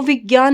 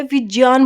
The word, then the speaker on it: विज्ञान: वो हमेशा क्या है, विज्ञान बोलते हैं, विज्ञान। यानी जो ये है, बताऊंगी मैं कैसे किससे मिलके बना हुआ है, तो इसका सही उच्चारण जय होता है, जय, ना कि ग होता है।